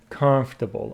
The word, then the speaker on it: comfortable: comfortable it's really comfortable comfortable are you pronouncing it correctly how do you pronounce it comfortable looks like this o is not pronounced comfortable comfortable I hear